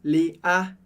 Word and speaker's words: Léa: estou exagerando, é que a sílaba forte do francês, como regra geral, é a última. Por isso a gente não fala Léa, mas sempre Léa.